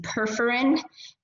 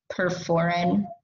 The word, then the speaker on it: perforin: And that's going to be perforin and granzyme. So I'm going to spell perforin because I feel like I say it wrong. That's it. I feel like I say it with P-E-R-F-E-R, perforin.